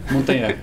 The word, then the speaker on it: Montagner: Como é que pronuncia? Montagné. Montagné.